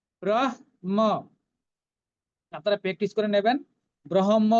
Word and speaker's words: ব্রহ্ম: এই দেখুন এই ব্রহ্ম উচ্চারণটা নিয়ে অনেক সমস্যা আছে, কেউ বলে ব্রহ্ম, কেউ বলে ব্রহ্ম, কিন্তু বিষয়টা সেরকম নয়। এটা হচ্ছে অর্ধেক হ পূর্ণ ম, তাহলে ব্রহ্ম, ব্রহ্ম।